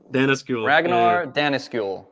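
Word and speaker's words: Danneskjöld: these guys were accelerated how you say it Dana skill Dennis school there you go so these guys were accelerationists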